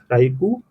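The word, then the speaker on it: Ryukyu: This whole is your आपका रायूकू island है, इसको करेक्टली प्रोनाउंस कर लीजिएगा गाइज। ये क्या है? रायूकू आइलैंड है, रायूकू आइलैंड्स।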